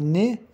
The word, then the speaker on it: nez: Un dentifrice, une lampe, le nez, une tente, le serpent, un enfant, les enfants. O nez, que é a nariz, o Z não se pronuncia, le Z ne se prononce pas.